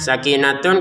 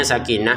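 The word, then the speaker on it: سكينة: Sakinatun kita bacanya sakinah. Huruf ha ini ya karena kita berhenti kalau dilanjutkan kembali menjadi huruf ta.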